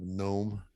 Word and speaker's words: gnome: I often wonder if I don't have some kind of a gnome, a GNOME, that kind of gnome. Mm-hmm. With a silent G, gnome.